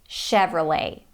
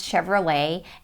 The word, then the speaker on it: Chevrolet: true but sure and not let but late Chevrolet a funny story about